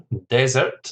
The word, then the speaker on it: desert: change in the pronunciation desert the stress is on the first syllable and desert the stress